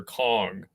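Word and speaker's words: Cong: So, is it Shong or Kong? It's Shong Wang.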